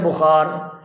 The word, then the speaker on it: بخار: یہ مضموم ہوں گے۔ لفظ زکام، اسی طرح لفظ بخار، ان دونوں میں زا اور با دونوں مضموم ہوں گے۔ سکون، کسی حرف کو